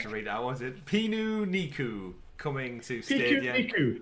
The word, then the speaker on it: Pikuniku: Was it Pikuniku coming to Stadia? Pikuniku. It's the Japanese word for picnic.